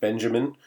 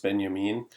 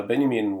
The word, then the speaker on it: Benjamin: name of Walter Benjamin I know it looks like Benjamin uh but it's pronounced if you're fancy it's pronounced Benyamin uh Benyamin was a German scholar